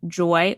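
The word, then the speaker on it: Joi: And so I decided to get lab work done through an incredible company called Joy Wellness. That's spelled J-O-I Wellness.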